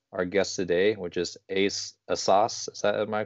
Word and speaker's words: Asas: And I'm very honored and happy to introduce our guest today, which is Asas. Am I pronouncing that last name Yes, correctly?